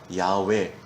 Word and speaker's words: 야훼: 오늘날에는 원문의 발음을 따라 야훼, 야훼라고도 부르죠.